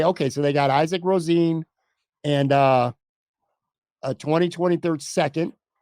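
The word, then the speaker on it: Rosén: first rounder is it i always pronounce his name wrong isaac rosen rosine rosine that's what it is isaac rosine i always look at josh rose and the quarterback because it spelled the same way anyway okay so they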